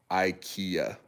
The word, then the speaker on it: IKEA: Renchen said, "I meant the pronunciation of IKEA." My bad, dude. I'm sorry. So, yeah. We say IKEA.